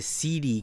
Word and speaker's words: SEEDI: clone CD based console called the CD, and it's spelled SEEDI. Um, not not really the best name, because CD, people might say, oh, that sounds seedy, or shady.